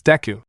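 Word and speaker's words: Izuku: a nickname but it's because isuku can also be pronounced as deu he mumbled tracing my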